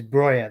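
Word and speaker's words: Broja: happy about that because brya brya is brya that's how it's pronoun doesn't matter how you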